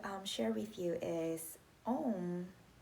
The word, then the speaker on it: Ohm: with you is own even though it's spelled Oh HM oh oh um when we chanted it's actually saying the lattice a you and um okay so it's not oh oh it's actually ow and the answer sounding